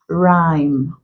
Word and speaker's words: rhyme: sound we looked at words containing R and H where the H becomes silent and only the Earth sound is pronounced so here we have rhyme rhythm rhetoric or rhetorical